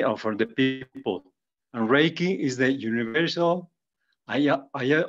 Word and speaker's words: Reiki: we learned is that Reiki two syllables Ray Universal energy and key like the the viral the Key Energy of of each person but from your understanding